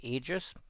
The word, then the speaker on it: Aegis: It's commonly pronounced Aegis. I've heard it pronounced all sorts of ways. I see the AE and my brain says it's A. Although it probably should be more like an ash.